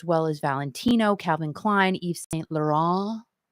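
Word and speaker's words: Yves Saint Laurent: as valentino calvin klein eve saint laurent you got to say it like that you can't even say laurent you're gonna say eve's thank you to eve eva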